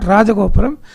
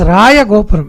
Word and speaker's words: Raya Gopuram: It is not Rajagopuram, it is Raya Gopuram, because Raya was the surname of the Vijayanagara emperors.